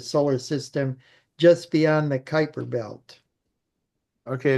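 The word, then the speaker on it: Kuiper: system just beyond the Kyper belt okay it's spelled Cooper but you call it Kyper yeah Kyper Bel okay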